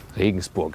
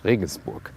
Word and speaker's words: Regensburg: Regensburg is the German pronunciation. Listen and repeat. Regensburg.